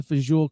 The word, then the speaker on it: fagioli: So he goes in and he pronounces Pasta Fazool correctly.